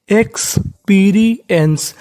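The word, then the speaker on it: experience: यहाँ पे PER लिखा है लेकिन उसके बाद हमारा आई लिखा है, इस वजह से PER का उच्चारण यहाँ पे पर नहीं होगा, पीरी होगा, क्योंकि इसके बाद हमारा स्वर है।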